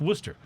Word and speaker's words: Worcester: a little ways away from it called uh worcester it's spelled like warchester like w-o-r-c-h-e-s-t-e-r right but it's pronounced worcester and then in boston there is a neighborhood